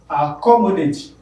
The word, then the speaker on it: accommodate: Accommodate, you have it here. Meaning that co is stressed. Accommodate, you have four syllables there. Accommodate. It is the second one.